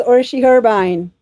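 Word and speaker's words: Orsi Herbein: without me butchering it my name is orshi herbine and it's not spelled like that not not at all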